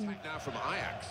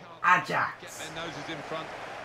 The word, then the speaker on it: Ajax: if they're called Ajax, Ajax in Dutch, if that's how it's pronounced in Dutch, that's fine. But in English, that's Ajax.